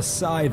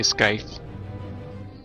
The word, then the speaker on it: scythe: clever and now the scythe is ours all right it's up to you i'll be waiting for you in the hall yes the sea is silent but i still like to say sky reminds me of skype